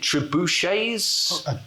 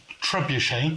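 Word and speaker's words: trebuchet: And this is where I meant to ask how on earth I should pronounce. Is it tribuchets? Trebuche.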